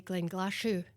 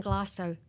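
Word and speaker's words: Glenglassaugh: was speaking to Rachel, I did say Glen Glassu, right? And I think she thought she'd lost all hope by because people are are precious. You know, it's like um we might not get it right every time, but just try. So, it's gone glass out.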